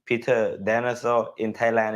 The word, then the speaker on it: Danesoe: Peter Danesoe. Okay, Like a dinosaur. Peter Peter Dinosaur. It's like Danish name. It's in Danish we call like Peter Danesoe. But in English I think it's Peter Danesoe.